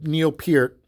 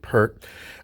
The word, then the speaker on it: Neil Peart: learned all the rush Tunes as a drummer Neil Peart that's how you're supposed to pronounce the name of the people say perk uh you know he's often idolized in the